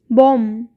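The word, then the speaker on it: bomb: बॉम्ब, बॉम्ब में भी बी का साउंड नहीं आएगा।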